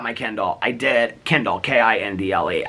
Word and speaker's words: Kindle: K I N D L E. I know I say it like Kendall, but it's Kindle.